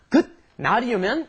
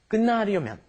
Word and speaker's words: 끝나려면: You don't pronounce that T there, do you? It turns into an N. It's not 끝나려면, it's 끝나려면, okay?